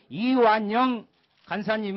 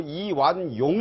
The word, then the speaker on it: 이완영: 다시 바로 하도록 하겠습니다 이완영 간사님 은 이 부분에 대해서 자기 없음을 말씀 드리고자 합니다 정의당 의 비례대표 소속이 유소아 의원 이완 한의원을 찾고 이완용 이라고 발음을 해서 저게 지금 예 사례